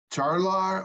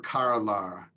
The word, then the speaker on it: charlar: Is it charlar or carlar? Cha, yeah. Cha. Yo charlo, tu charlas, el charla, ella charla.